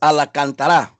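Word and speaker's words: Alcántara: Joe first of all it's Alec antara I'm sorry I have to throw him a little Spanish there because yesterday was good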